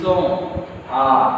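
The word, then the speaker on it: sont: So who act, then night with ill, S-O-N-T. it's song. Il song. Why song? Because where I wrote O-N, nasal vowel sound O. So il song, el song.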